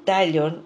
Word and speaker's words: Tallon: Dice así: José Sebastián Tallon, sin acento en la O, vivió 50 años entre 1904 y 1954, puff, hace mucho, en Buenos Aires.